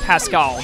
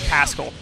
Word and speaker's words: Pascal: I think it's pronounced Pascal, not like Pascal. There's like an emphasis on the A.